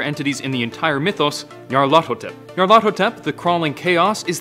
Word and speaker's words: Nyarlathotep: The closest pronunciation I've been able to find is Nyarlathotep.